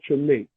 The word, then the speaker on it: Treme: Yeah, that's Treme. Yeah, That's how sorry. you pronounce it.